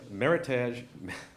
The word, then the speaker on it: Meritage: our fine wine reserved Meritage someone wrote here rhymes with heritage I know what I'm